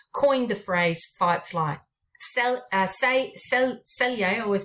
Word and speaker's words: Selye: Selye, I always pronounce his name wrong, S-E-Y-L-E, Selye, he did the general adaptive syndrome, which has put it into 3 categories.